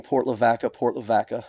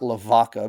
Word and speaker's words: Port Lavaca: Now, you may wonder why I'm pronouncing Port Lavaca, and not Lavaca, because that's what it means, the cow, right? Well, because we're from Texas.